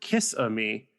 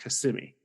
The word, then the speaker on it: Kissimmee: a town named Kissimmee I pronounced it kiss on me when I saw it on the sign and it was promptly corrected and told it's pronounced Kissimmee I didn't apologize for